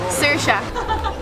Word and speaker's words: Saoirse: I'm outside at Londy's and I'm here with Saoirse. How do you say it? Saoirse.